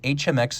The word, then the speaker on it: HMX: Now, I call it the HMX because there's also an HM10. So I believe HMX is the proper way to say the name of this watch, even if, strictly speaking,